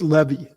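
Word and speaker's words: Leavy: Mantle uh yeah and actually your name is pronounced Levy most people don't know that um I've mispronounced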